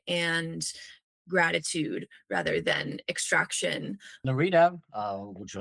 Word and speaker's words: Nairita: So, my sort of revenge sort of is an epistemic revenge to sort of reclaim my name and pronounce that as Norita, which is very close to my mother tongue in Bengali.